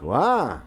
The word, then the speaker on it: wha: Second word, W-H-A. There's no T on this and it's pronounced wah.